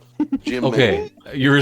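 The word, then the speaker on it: Jymn: is Jim Megan and his first name is spelled like the word him like like no like I just realized that didn't work because it's yeah h y mn but it's j y mn gy gym okay you were saying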